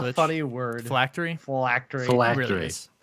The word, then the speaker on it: phylactery: Phylactery. It really is. The way it reads, it does not feel like it should be pronounced that way, but I believe that's correct.